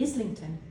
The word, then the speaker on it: Islington: Why is the I pronounced as E in Islington, but I in Ireland?